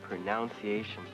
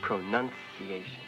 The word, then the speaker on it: pronunciation: No, Peggy. The word is not pronunciation. It's pronunciation.